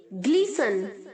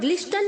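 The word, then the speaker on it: glisten: Gleams, gleaming, ग्लीसन, ग्लीसंड, ग्लीसंड. यहाँ पर T silent है बच्चों, टी साउंड नहीं करेगा, हमें ग्लिस्टन नहीं बोलना है, ग्लीसन बोलना है.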